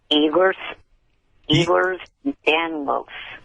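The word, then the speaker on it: Ehlers-Danlos: Eers Danlos.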